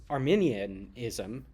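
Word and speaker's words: Arminianism: tradition it um it's Armenian ISM um not to be confused with like the ethnic group but similarly pronounced not Lutheran or calvinist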